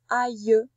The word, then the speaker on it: aïe: C'est pour ça qu'on entend aïe. Et pourtant, ça ressemble beaucoup à l'aile de l'oiseau, je suis d'accord. Mais ça ne se prononce pas pareil.